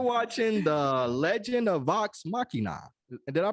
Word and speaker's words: Machina: randy we are watching the legend of vox machina did i pronounce that right machina yeah you said it